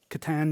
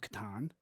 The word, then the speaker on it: Catan: a lot of fun um yeah this is Katan new energies it's the newest version of the